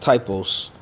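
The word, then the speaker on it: τύπος: That word there is pronounced typos.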